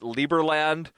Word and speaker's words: Liberland: like to pronounce it liberland uh because that's sort of the uh the the more Latino pronunciation of Libre or Liber L IB R uh